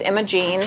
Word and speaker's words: Imogen: Imogen -o-g-e-n and so there's two pronunciations sometimes it's Imogene sometimes it's Imogen Imogen wait a minute